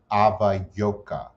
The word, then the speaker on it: avayoka: of the worship of dead relatives called i ava yoka a v a y o k a avayoka